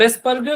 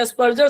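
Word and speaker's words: Asperger: अब एस्पर्गर syndrome या एस्पर्जर syndrome, दोनों प्रोनाउंसिएशन सही हैं।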